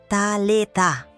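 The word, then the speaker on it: Talitha: Talita. A segunda sílaba deve vibrar na garganta, como um zumbido.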